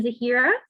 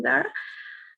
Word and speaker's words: Zahira: right hello everyone um my name is actually zahira but i guess it's hard to pronounce sometimes so feel free to call me zara uh firstly i necessarily admire